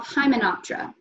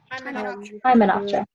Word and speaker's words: Hymenoptera: Then you have Hymenoptera. Hymenoptera.